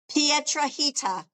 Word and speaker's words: Petraita: Petraita rhymes with margarita. Oh, I love it. You see, I gota I gotta look at it. Pierita.